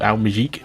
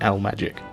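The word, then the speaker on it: Al Maajik: magic as someone told me the the chronic pronunciation of al mighty as i was calling it is actually l magic like as in magic stuff so there you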